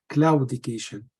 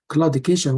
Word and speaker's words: claudication: claudication what is claudication claudication sometimes you pronounce Cloud education but it is both are correct claudication which is mean it